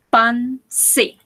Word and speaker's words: penser: Recordemos que esto es nasal. Pense. Pense. ¿Sí? No pronunciamos la R. Pense.